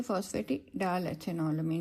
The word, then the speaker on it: phosphatidyl: Sorry, बल्कि हम इसको जो है ना phosphatidyl प्रोनाउंस करेंगे, AL आएगा इसमें, ठीक है, phosphatidyl बिकॉज इसमें आपने देखे ना ईथर लिंकेज है.